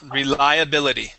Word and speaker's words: reliability: okay rely rely uhuh reliability re re reability okay give me that eye that long eye there reliah reliability reliability good one more time